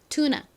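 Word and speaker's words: tuna: 번 더 해 볼까요 여기서 사실가 한국어의 어와 똑같은 발음은 아니에요 살짝 어와 아의 중간 같은 발음이라 얼핏 들으면처럼 들리기도 합니다 그래서 그냥 나라고 발음해 주셔도 괜찮아요 해볼게요 투나 오케이 자 해석해 보면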